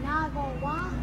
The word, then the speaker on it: naguará: Naguará. No, naguará. Naguará. No, naguará. Naguará. Naguará. Well, you need to say it like naguará.